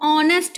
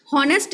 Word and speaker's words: honest: Eight silent होता है, जैसे HOUR को हम आर बोलते हैं, HONEST को ऑनेस्ट बोलते हैं, ऑनेस्ट। तो यहाँ पर साउंड क्या आ रही है, जैसे इसे हार्ड ऑन हॉनेस्ट नहीं बोलेंगे, ऑनेस्ट बोलेंगे,